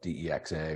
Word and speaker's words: DEXA: the country um they you can do a dexa scan there and that's what they usually call it a decks and sometimes it's spelled d-e-x-a or dxa a dexa scan typically